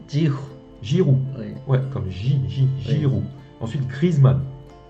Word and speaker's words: Giroud: Ensuite, pour les attaquants, on a Ben Yedder, Coman, Giroud, 지후.